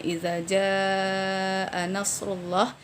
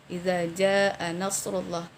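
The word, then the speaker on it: إِذَا جَاءَ نَصْرُ اللَّهِ: Yaitu jika kurang memanjangkan mad. Misalnya idza jaa nasrullah, kita baca idza jaa nasrullah. Nah, di sini hanya kita baca 2 harakat saja yang seharusnya 4 atau 5 harakat.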